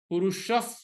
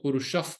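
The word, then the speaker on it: पुरुषः: So when you do the, again, purusha, there's a visarg followed by pa. Katham sah purushaf partha. When you do the part, if you enjoy, katham sa purushaf partha, kam ghatayati antikam.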